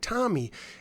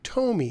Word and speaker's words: Tomy: i reviewed my pacman bank but i incorrectly pronounced the company's name i called it tommy and it's really tomy and i just want to give a shout